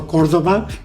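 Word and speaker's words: Córdoba: really represents you know some people call me mr cordova or cordova as a correct pronunciation uh and they asked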